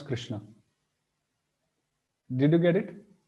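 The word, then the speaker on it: कृष्ण: is how we pronounce Krishna did you get it we write it correct but we pronounce it wrong we pronounce it as this Krishna normally but it should be Krishna so so the middle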